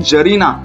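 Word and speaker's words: czarina: लिखा हुआ है ना उसको बोलते हैं जरीना सी साइलेंट इसमें तो सी नहीं बोलेगा अबोव थिंग्स वेयर आर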